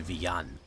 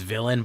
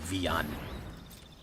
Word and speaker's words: Villain: I like if the Spanish pronunciation of my name is Villan. Like, it's villain, but that's the anglicized version. It would be Villan.